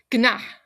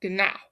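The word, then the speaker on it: Gná: Gana or gana is um her name means to soar or tower over and also phonetically comes out a lot like the nang of a horse. So, gana or gana.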